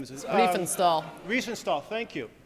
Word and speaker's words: Riefenstahl: I can't pronounce the last name. Riefenstahl.